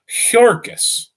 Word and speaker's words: Jurgis: married and married to Jurgis pronounced as it says in the book Jurgis of all men jurgis